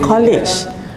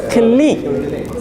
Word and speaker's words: colleague: That's not college. That's colleague. Colleague. Colleague. It's like C-L-I-C-K. Click. Colleague.